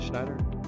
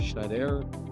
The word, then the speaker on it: Schneider: Schneider or Schneider.